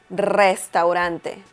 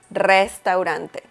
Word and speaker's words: restaurante: So instead of saying restaurante, the correct pronunciation is restaurante, restaurante.